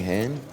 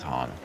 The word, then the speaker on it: Han: Anything, Han? It's Han, but that's okay.